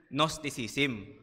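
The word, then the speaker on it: gnosis: po ng sinaunang church Yun pong nosis so Isulat ko po para makita po ninyo yan so nos sisim silent G So yung katuruan po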